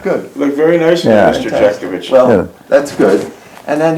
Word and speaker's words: Jeckovich: Good evening, John Jeckovich. Did I pronounce that right? Yeah.